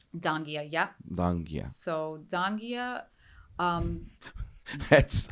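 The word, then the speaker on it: Donghia: Gandia, right? No, you totally butchered the name. Dangia.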